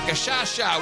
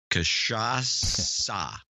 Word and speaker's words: cachaça: Cachaça. Cachaça? Yeah. Oh, cachaça. Oh, I thought you were talking about Khashoggi. Cachaça? It's cachaça. What did I say? Cachaça, not sha.